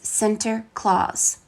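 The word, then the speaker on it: Sinterklaas: to celebrate the event the Dutch pronunciation of Saint Nicholas is Center Clause when the Dutch immigrated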